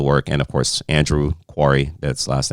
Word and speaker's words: Quarrie: The work, and of course, Andrew Quarrie. That's last name is QUARRIE. Sometimes people always wonder, is it Quarrie? Is that how you pronounce that?